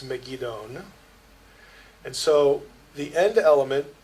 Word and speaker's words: Megiddon: Zechariah 12:11 is unique in that it's the only time Megiddo is spelled with an N at the end. It's Megiddon.